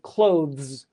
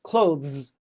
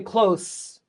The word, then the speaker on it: clothes: clothes. You don't say close, you clo say clothes. You go from a th to a z.